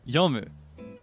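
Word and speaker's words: 読む: And it took saying it wrong enough times around people that spoke Japanese better than me to hammer it into my head that it is yumu.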